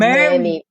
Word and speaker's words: Merme: It's called Merme. Merme. So Mer, like M-A-I-R. That's how you would write it if you had to pronounce it.